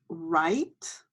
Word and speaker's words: write: we have a rap our next word is right right and it has five letters but the W is silent so we have a I right